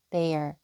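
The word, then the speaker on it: they're: they are 축약형으로 하면 they there 이렇게 발음만 조금 붙여서 짧게 빠르게 해 주시면 되세요.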